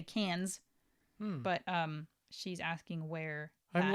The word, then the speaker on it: Cannes: So where's the Cannes Film Festival being held this year?